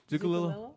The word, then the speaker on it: Zucculio: Zucculio was a great pronunciation. Yeah. Zucculio. No, I'm still messing it up. Right? No, you're doing good. Zucculio.